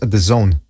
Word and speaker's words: DAZN: It's pronounced DAZN. It's what? That's what it says on Wikipedia. Hold on a second. All right, so there we have it. I heard some people call it dance sports.